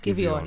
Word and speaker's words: Giveon: How do you pronounce his name? Giveon.